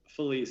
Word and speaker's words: Filice: Well, when my ancestors came from Italy, it should be Felice, but the American tongue was like Felice.